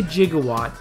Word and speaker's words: gigawatt: Although, technically, it is okay to pronounce gigawatt with a soft G. So, if you want to say gigawatt, it's perfectly fine to do that.